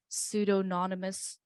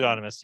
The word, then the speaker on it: pseudonymous: And the benefit of this would be that it's I don't know even how to pronounce this word, pseudonymous. It's really pseudonymous.